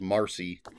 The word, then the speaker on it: Marsheila: I pronounced it Marsheila Rockwell. It does say in parentheticals Marcy.